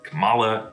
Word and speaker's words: Kamala: And yes, I like how in the trailer they have to correct Kamala Khan versus Kamala Khan. It's a bit of a reversal because when we first heard of Kamala Harris, a lot of people mispronounced it as Kamala Harris and she had to correct us. But here, Kamala has to fix it back, so it's Kamala Khan.